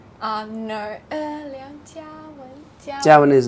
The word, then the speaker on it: 梁家文: 梁家文, Liang Jiawen. No, Liang Jiawen. Jiawen is not anywhere near to Karen in terms friend, of pronunciation.